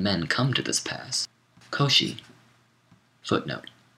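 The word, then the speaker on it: Kōshi: come to this pass kosi footnote Koshi is the Japanese pronunciation of the name of the Chinese philosopher Kung or Kung vuu whom we call confucious end of footnote and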